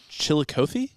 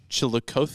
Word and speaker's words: Chillicothe: This farm was in Mooresville, outside of Chillicothe. Chillicothe. Yes. Chillicothe or Chillicothe. It's pronounced both ways.